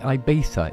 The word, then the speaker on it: Ibiza: apparently you pronounce it Ibiza, even though there isn't a TH in it.